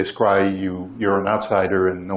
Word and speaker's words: scri: And that's denoted with the script I, and it's pronounced scry, so that's an old standard in the literature, so that's something that distinguishes someone who's in from someone who's out. If you say scry, you're in.